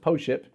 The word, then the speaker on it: Pošip: are all correct yes this wine is called po ship and it's POS IPA is pronounced po ship and from the core